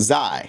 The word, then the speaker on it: Xi: the next one was x i pronounced zai from paul newkey he